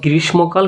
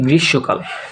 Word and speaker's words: গ্রীষ্মকাল: এটার উচ্চারণ হচ্ছে, আমরা শিখে এসেছি গ্রীষ্মকাল, কিন্তু এর উচ্চারণ হচ্ছে গ্রীষ্মকাল, ঠিক আছে?